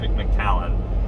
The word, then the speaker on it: McAllen: I wanted to get to McAllen, I guess is how it's pronounced, it's McAllen, and there was no way.